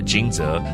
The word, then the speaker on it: 驚蟄: 驚蟄，到了驚蟄，雷聲響起，驚醒冬眠的昆蟲動物們。Thunder happens around 驚蟄 that awakens all the hibernating insects and animals.